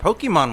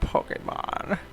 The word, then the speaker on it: Pokémon: She does, it's not Pokemon. How do you say that? Pokemon for Pocket Monster. Pokemon. Pokemon. Pokemon. There's an apostrophe over the E.